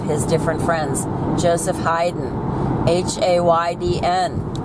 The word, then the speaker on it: Haydn: different friends Joseph Haydn h-a-y-d-n h-e-i-d-e-n in German means pagan and they're both pronounced the same Haydn Hayden very very similar then you've got Beethoven